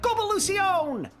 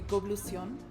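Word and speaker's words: Goblution: Viva la Gobolution! You've added an extra syllable to that. It would be goblucion, not govolution.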